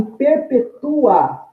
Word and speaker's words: perpetua: Adjetivo, perpétua, prisão perpétua, né? Note aí que o A eu falei também num único impulso, logo trata-se de um ditongo, então é uma paroxítona terminada em ditongo, visto que a penúltima sílaba é a tônica. Já em perpetua, eu tenho aí, nesse encontro vocálico, terminando a palavra, um hiato, um intervalo, uma pausa. Tenho dois impulsos para falar esse UA.